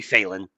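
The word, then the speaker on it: Phelan: directed Davy Secretary John Felen um or Failen Felen Failen Phen that would be that would that I'm pretty sure the proper pronunciation of that would be Failen.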